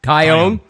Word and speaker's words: Taillon: How do you pronounce his name? Taillon.